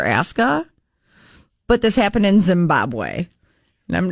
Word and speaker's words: Zimbabwe: Am I saying it wrong? No, Zimbabwe is correct.